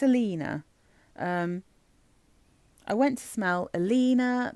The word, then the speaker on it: Alina: I just want to make sure I pronounce this right. Yeah, it's Alina.